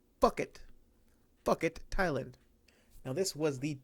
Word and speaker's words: Phuket: Joe Martinez pronounced it Phuket, Thailand. Damn it, Joe Martinez, it's pronounced Phuket, Thailand.